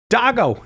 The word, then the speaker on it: Dago: Dago in Tampa, Florida, listening on the Catholic Answers Live app.